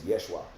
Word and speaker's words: Yeshua: words phrases names cuz anybody who would even use the name Jesus is already not even pronouncing his name right cuz at that time I think they didn't even have the letter J so it's actually name is Yeshua you feel me and